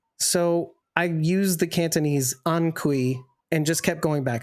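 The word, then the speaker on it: Hanc hui: But when you say it, Ankui, that's what it sounds It like.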